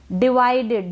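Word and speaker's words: divided: यहाँ पर ये जो आई है इस आई को वी के बाद में जो आई है ना इसको हम आई पढ़ रहे हैं और शुरू में ये जो आई है इसको हम छोटी ई के रूप में प्रोनाउंस कर रहे हैं।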